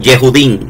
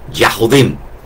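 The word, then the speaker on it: יהודי: Entonces, ¿cómo cómo los árabes pronuncian la palabra judíos? Que los masoretas le dicen yudín. Jehudí. Jehudí. Bueno, pues los árabes lo ponen con a Yahudim.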